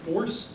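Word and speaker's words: FORPS: But luckily we have the flip side, which is, here the backronym is, I pronounce it FORCE, the P is silent, just go with it.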